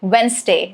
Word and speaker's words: Wednesday: Rule is D is silent before N or G. Okay, for letter N, I've got examples like Wednesday. So yes, it is not Wednesday, it is Wednesday.